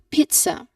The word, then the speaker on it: pizza: Make sure everyone that there is a long e sound in there.